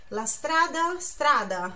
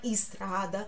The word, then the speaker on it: strada: se pronuncia nesse Didi lastrada não é estrada é estrada começa com S e consoante ou essa mudo Estrada